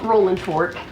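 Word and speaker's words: Rolling Fork: They do not pronounce it with the ing.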